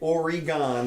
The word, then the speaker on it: Oregon: and work on yeah or I should say Oregon that's how they like it pronounced yeah and it's a 44 page proposal